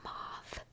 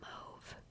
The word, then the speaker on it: mauve: my fun move or mauve i say moth but some people say move and then there's some